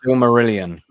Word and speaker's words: Silmarillion: So Silmarillion. Yeah. That's very true. That is how you pronounce it.